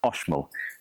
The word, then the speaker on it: Oxmul: It's spelled Oxmol coffee, but it's pronounced Oshol.